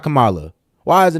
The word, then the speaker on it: Kamala: it with their accent so you could tell kamala's name is kind of Indian CA Kamala I godamn near hit my have my tongue hit the roof it's like bro Camala I'm an American so I'm going to pronounce